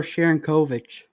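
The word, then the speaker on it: Sharangovich: Yigar Sharangovic. Close. Igor Sharankovic.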